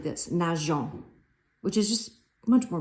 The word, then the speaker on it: nageons: If that was the case, following French pronunciation rules, you would pronounce that verb nagon, which is just kind of ugly. So with the E, it sounds like this, nageons, which is just much